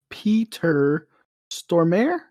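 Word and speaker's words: Peter Stormare: solid i'm yay okay um so peedle peter stormer yeah that's how you say it he played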